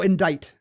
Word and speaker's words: indict: a silent c oh indict indict has a silent sea well I guess yeah